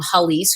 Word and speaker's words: Hallease: Now, what I mean by that is, and this is an idea that I got from Halise, who's a fellow YouTuber.